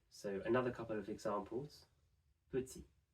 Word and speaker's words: petit: Petit. Petit can be pronounced just petit.